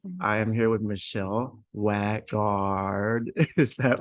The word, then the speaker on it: Waagaard: my last name and the two A's in Norwegian becomes oh oh oh that's like